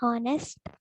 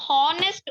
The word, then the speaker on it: honest: H is silent, no, ma'am. In honest. Yeah, that's what Neha is asking. I explain the same thing. Yukta, what is your doubt? Ma'am, here honest O will come.